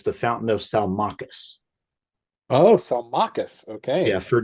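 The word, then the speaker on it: Salmacis: to correct my own it's the Fountain of salachas oh salus okay yeah for decades I've said Sal mesis because I'd never heard it pronounced I actually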